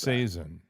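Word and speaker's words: capsaicin: Is it capsian? I don't know how to pronounce capsain.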